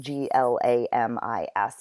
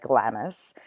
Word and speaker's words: Glamis: And Macbeth, who is the current Thane of Glamis, which is pronounced Glamis, it looks like Glamis, he's going to give him another title.